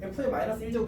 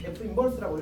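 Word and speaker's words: f⁻¹: 이친구 우리가 이름 붙이기를 f 역함수 f의 -1제곱 이렇게 읽지 않습니다. 맞지? f 역함수 f 인버스라고 읽어.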